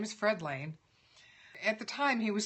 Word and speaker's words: Lehne: And I think now he's pronouncing it Lenny because nobody knows how to pronounce L-E-H-N-E.